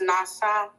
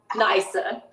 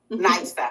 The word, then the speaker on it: Nisa: And I told, it's, how do you say it's Nasa? Nisa. Nisa. Okay, I was close.